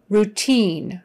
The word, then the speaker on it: routine: a hospital or whatever routine routine checkup you in this case is pronounced oo routine routine i and e is pronounced with a long e sound routine in not routine